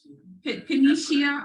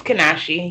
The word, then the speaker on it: Kanisha: How do you say the first name? Kanisha Austin. Are you with us? It's Kanashi, yes.